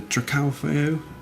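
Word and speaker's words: Dracaufeu: we go on to the Dracalfeo, which is, I believe, is how it's pronounced in French.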